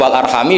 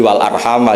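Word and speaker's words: وَالْأَرْحَامَ: majrur min giriadatil jarri yaitu wal arhami diatafkan pada bihi tanpa mengulang huruf jar. Tapi jumhur tentu lebih keren karena jumhur ngikuti qiraah masyur wattaqwall alladzi tasaalu bihi wal arhama. Jadi jumhur memang bacanya wal arhama diatafkan ke Allaha bukan diatafkan ke bihi.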